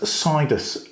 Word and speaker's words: Sidus: It's Sidus Link, that's what it's called.